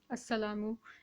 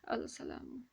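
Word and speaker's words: السلام: And of course we began our lesson with this example, as-salamu and not al-salamu.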